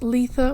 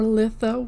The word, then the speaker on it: Litha: Folks, a happy blessed Letha or Litha, whichever way you pronounce it to you if you celebrate.